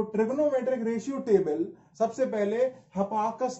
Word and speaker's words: Hipparchus: तो trigonometric ratio table सबसे पहले हिपार्कस नाम के व्यक्ति ने, HIPPARCHUS, इसकी स्पेलिंग थोड़ी अलग है लेकिन प्रोनाउंसिएट थोड़ा अलग किया जाता है, इस व्यक्ति ने बनाई थी, है ना।